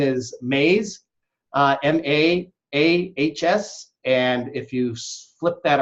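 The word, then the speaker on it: Maahs: His last name is Mays, M-A-A-H-S, and if you flip that around and you spell it backwards, it's Sham.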